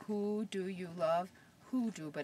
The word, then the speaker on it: hoodoo: piece of it these formations here are called hudos it kind of sounds like when you say who Do You Love hoodoo but it's spelled differently it's ho o o